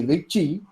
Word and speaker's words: Ricci: From fourth rank to second rank tensor, it is called the Ricci tensor, or proper pronunciation would be Ricci. It's an Italian name, but we all Indians have our own way of doing things.